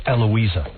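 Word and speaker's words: Heloá: Her name is Hloa Vala, but she the H is silent. So it's Eloa.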